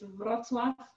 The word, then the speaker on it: Wrocław: It's Wrocław.